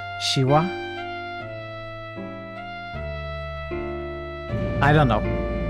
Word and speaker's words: Shivah: I am the Shira pronounce like the Hindu god but with the accent on the final vowel shiwa shiwa I don't know